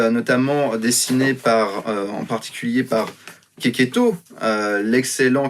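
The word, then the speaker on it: Checchetto: C'est une série qui est aussi notamment dessinée en particulier par Keketo, l'excellent Keketo, oui ça se prononce Keketo bien sûr, et pas Checheto, Marco Keketo qui dessine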